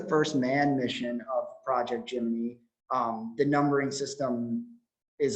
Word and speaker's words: Gemini: was jiminy three um the pronunciation of jiminy i think my natural inclination would be to pronounce this word gemini so there is some discrepancy on how folks say the word um i don't think